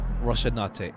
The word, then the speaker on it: Rocinante: And I need to like beat it to my head how to pronounce that. Hold on. Someone say it? I can't find it. Rocinante.